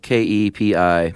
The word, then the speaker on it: kepi: Yeah, spelled K-E-P-I, pronounced Kepi, and they still wear those.